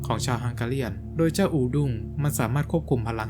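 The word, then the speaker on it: urdung: ด้าน ก็ จะ ได้ เป็น u r d u n g หรือ ที่ อ่าน ว่า อูดง ใน ภาษา ฮังกาเรียน ผม เลย เอา คำ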